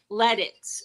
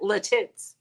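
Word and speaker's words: Lititz: town in Pennsylvania called let it and I when I got there I was calling it Latins and so people like we don't say it like that so I'm like okay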